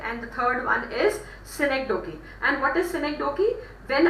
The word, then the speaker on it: synecdoche: phrase, and that is synecdoche. You can write it down. I'll just spell it out. It is SYNEC. Just write it down. Make a note of it in your books. SYNECDOCHE. It is synecdoche.